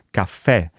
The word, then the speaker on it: caffè: Invece in italiano si pronuncia caffè con la E aperta e quindi lo scriviamo con l'accento grave.